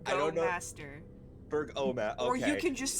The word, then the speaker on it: Burgomaster: pronunciation? I don't know the Burgermaster. correct I don't know- Burgomaster.